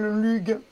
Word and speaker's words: Lugh: Et c'est marrant parce que le magicien, eh ben, il s'appelle Lugh.